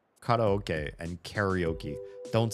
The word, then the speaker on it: karaoke: There's no e sound after the r. It's ka.